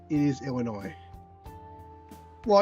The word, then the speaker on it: Illinois: But no, it would it would not be it's not it's not it is Illinois. Well, it's it's spelled Illinois with an S. It just is pronounced.